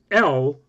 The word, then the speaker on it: El: character whose name is l pronounced like the English letter L which if you spelled